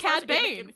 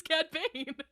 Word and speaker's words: Cad Bane: me with the Vader it's funny because it's CAD ban it's funny because it's CAD Bane not both of us having a it's like